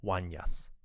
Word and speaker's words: Unas: As you listen, see if you can find Orlando's references to King Unas, which he pronounces as Wanyas.